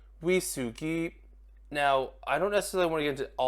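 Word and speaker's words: ウイスキー: Now the first word I think shouldn't be surprised is whiskey, which in Japanese you say wisugi.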